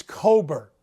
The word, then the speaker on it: Cockburn: behemoths one kofi coburn i don't care that it's spelled like cockburn it's cobert so just let's get